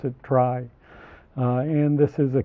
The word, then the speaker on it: trie: on a pun uh it actually is the middle letters of the word retrieval but we don't pronounce it tree because then we couldn't